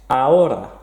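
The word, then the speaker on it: hora: at the moment tres aura again don't pronounce the h aura cuatro number four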